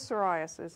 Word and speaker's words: psoriasis: pronounce it all right it's psoriasis like pneumonia how do you say pneumonia yeah right that's the English language for you right I don't know okay so it is psoriasis and again like I